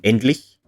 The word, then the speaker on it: endlich: velum like k, ch, whereas this c with a tail is pronounced at the palate, so the forward part of the roof of the mouth. Endlich, not endlich.